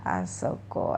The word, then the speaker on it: あそこ: kata tunjuk tempat ada kukus Soko dan juga asoko ya Nah ini bacanya adalah Koko Soko dan juga asal code